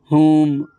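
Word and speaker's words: whom: लेकिन इन वर्डों में W silent होता है। एच साइलेंट नहीं होता है। ठीक है? तो आगे बढ़ते हैं अपन हुम हुज हु एवर हु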